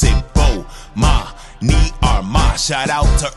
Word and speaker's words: Bomani: announcements imma say my name so you can pronounce it oh ma me are my shout out to early advisors I